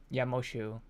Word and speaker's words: Moxu: So when I was Moshu. Yeah, but it's spelled Moxu.